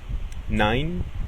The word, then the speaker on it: nein: La combinación de letras E, I suena ai. Por ejemplo, nein, que como muchos sabrán significa no, arbeiten, que significa trabajar, reisen, que significa viajar.